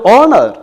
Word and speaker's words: honor: Here you look, the pronunciation, and honest, and honorary, and honor, honorarium. ഈ വാക്കുകളിലൊക്കെ H silent ആണ്. അല്ലാതെ എച്ച് എവിടെ കണ്ടാലും നമ്മൾ ആ എച്ചിന് മുമ്പിൽ എ എഴുതി ശീലിച്ചാൽ ഇവിടെ തെറ്റാണ്. ഇവിടെ എച്ച് എന്ന് പറയുന്നത് പ്രൊനൗൺസിയേഷൻ, അതിന് സൗണ്ട് ഇല്ല, no sound. H ഹാസ് no sound here.